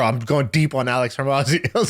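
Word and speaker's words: Hormozi: I consider him a friend, but I don't know if it's pronounced Mosey or Mozzie. Alex Hormozy. Is it? No, Mozzie. It's Alex like Hermazzi.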